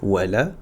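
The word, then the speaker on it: ولا الضالين: Ici supprimer le alif, la hamz liaison et le lem dans la prononciation. Donc on va faire wala et on va aller directement sur le dad.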